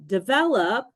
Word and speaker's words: develop: For example, develop stresses the second syllable, but development stresses the third one.